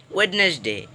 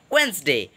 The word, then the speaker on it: Wednesday: your mispronounciation most obvious people say wednesday it's not wednesday it is wednesday what's the world will be silent thank you so much